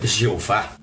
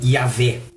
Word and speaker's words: Jeová: Ou seja, esta pronúncia Jeová, em português, ela está correta. Como o seu nome, por exemplo, que não é pronunciado lá nos Estados Unidos ou na Europa da maneira como você mesmo pronuncia. Mas aqui no Brasil, a palavra Jeová pode ser pronunciada sem problema.